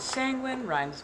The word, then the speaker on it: Sanguine: And Sanguine rhymes with penguin.